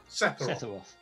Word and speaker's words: Sephiroth: Is it Sephiroth? Sephiroth. Okay, yes. Sephiroth.